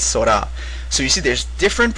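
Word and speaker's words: 空: So one pronunciation is sora, which means the sky. This is in kun reading.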